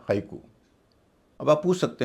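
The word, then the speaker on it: haiku: इसके अलावा जापानी शब्दों में भी ए आई का उच्चारण आई होता है। जैसे बोनसाई या हाईकु।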